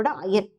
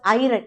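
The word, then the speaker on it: iron: FE is nothing but நம்மளோட அயன். Okay, don't pronounce this as ஐரன், இட் இஸ் அயன்.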